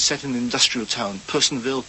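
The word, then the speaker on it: Personville: Harvest, which is set in an industrial town, Psonville, Poisonville as it's pronounced described as as an ugly town in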